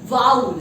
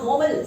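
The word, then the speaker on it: vowel: इसी तरीके से और भी शब्द है वाउल। जी हाँ, वोवल सही प्रोनाउंसिएशन नहीं है इंग्लिश में, सही प्रोनाउंसिएशन वोवल का है वाउल। जी हाँ, वाउल साउंड।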